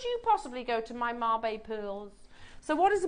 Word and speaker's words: Mabe: Marbe, pronounced Marbe, are the unique and beautiful alternative to a traditional pearl.